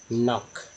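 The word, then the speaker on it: knock: एन हो, ठीक है, यानी के से शुरू हो उसके ठीक बाद एन हो तो के जो है के लेटर जो है साइलेंट रहता है।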